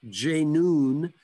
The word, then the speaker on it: J'NOON: name because it was very simple for all of us from the west to pronounce j noon and it was very